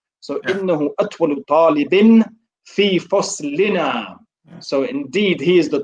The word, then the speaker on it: فصلنا: Is it لني, yeah? When you say it like that, I'm guessing it's not. Well, there's a noon and an alif. Is that how we pronounce the noon and the alif? Lini? لا. No. فصلنا.